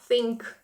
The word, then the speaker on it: think: мають запам'ятати щоб якось сполучення ці H читаються як з think think це не синкнк син